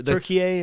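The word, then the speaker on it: Türkiye: And how how do you pronounce Tur- Turkiye as well Turkiye?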